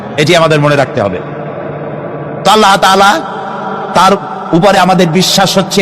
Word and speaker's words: আল্লাহ: আল্লাহর নাম আল্লাহ। বলেন তো আল্লাহ নয় কিন্তু আল্লাহ হচ্ছে অশুদ্ধ।